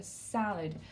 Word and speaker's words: salad: Et l'accent sur la première syllabe, a salad.